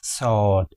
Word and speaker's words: sword: between British and American in British English the R is silent here whereas in American English you will pronounce RS slightly sword s okay the next which we like.